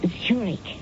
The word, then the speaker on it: Zurich: That's pronounced Zurich, as in the Swiss city.